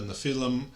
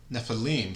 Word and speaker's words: Nephilim: In our association with the Nikon conference, the Nefilm Nephilim, sorry, I should know how to pronounce by now.